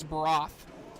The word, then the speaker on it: Broth: Johnny Cox and Benjamin Frederick against Rich Norman and Chris Broth. I talked to Chris. He taught me how to say his last name, so I was butchering his last name. It is Chris Broth.